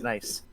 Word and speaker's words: gneiss: Nice. No, with an E at the end. Nice. GNISSE, because that's how you spell that word.